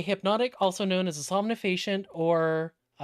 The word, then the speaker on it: somnifacient: That's a medicine grade somnifasient. Somnifascient. S O M N I F A C I N T.